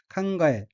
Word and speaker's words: 考え: 다음 어휘는 한자가 생각할 고자이고 일본어로는 칸가에 라고 읽으며 칸가에는 생각하다, 고안하다는 뜻의 타동사 칸가에루의 마스형 칸가에마스에서 마스를 떼고 뒤에 쉼표가 오는 형태로 칸가에는 생각하고 생각하며 란 의미입니다.